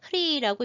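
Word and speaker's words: ह्रीः: 이거는 흐리라고 읽는데 이거는 종자 만트라라고 해서 모든 것의 씨앗이 되는 근원적 의미를 가진 글자거든요.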